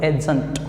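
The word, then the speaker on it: adjunct: वैसे ये जो डी है यहाँ पर ये साइलेंट होता, तो एडजंक्ट क्या कहोगे, एडजंक्ट, राइट।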